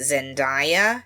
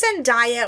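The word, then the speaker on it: Zendaya: Is it Zenia or Zenaia? I don't know. Ask her. I've heard it pronounced both ways. Zenaia. I think it is because I think she she finally said, "Oh, it's Zenaia." And I think a lot of British people say Zenaia.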